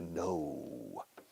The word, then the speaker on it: no: Fíjate cómo se pronuncia no. I have no idea. Es como si fuera N-O-U.